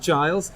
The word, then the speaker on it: Giles: yes welcome thank you in England we pronounce it Giles I've never seen Buffy